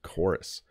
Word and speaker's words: chorus: for example chorus yeah so choir uses the qu sound choir and chorus uses the hard k sound chorus very interesting a with